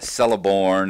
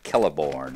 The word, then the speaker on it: Celeborn: stuff like that and I always called it celeborn and celebrant door and all those kind of